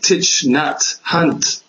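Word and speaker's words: Thich Nhat Hanh: is that like that um how do you pronounce that as like teach Nat hunt that's right yes yes I posted one of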